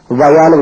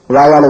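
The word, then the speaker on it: via: அல்லது மார்க்கமாக அப்படின்னு அர்த்தம் இதை உச்சரிக்கும் போது வையான்னு உச்சரிக்கணும் வாயாலன்னு உச்சரிக்க கூடாது சரி அடுத்து பாருங்க அடுத்த பிரிபோசிஷன்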